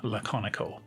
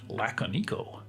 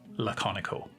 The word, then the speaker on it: Laconico: as an aside yes that is how you pronounce his name laconico i've heard people speculating whether it was pronounced some other way such as lakkaniko but you can find a youtube video where